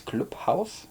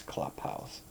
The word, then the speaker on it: Club House: You know, in German it's Clubhaus, in English it's Clubhouse. Let's stick to English.